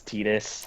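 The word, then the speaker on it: Tidus: Is they're- in World of Final Fantasy. That's how they pronounce it. It's like the first time his name is actually spoken, so Oh, it's Titus? official. It's Titus.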